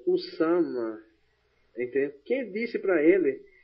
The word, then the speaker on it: Usama: Osama não é Osama, é o Usama.